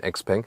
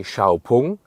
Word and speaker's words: Xpeng: and the name like the pronunciation xang is just used internationally inside China they say Shia and they just use